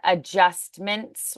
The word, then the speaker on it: adjustments: be adjustments so a the D is silent adjustments adjustments correct major adjustment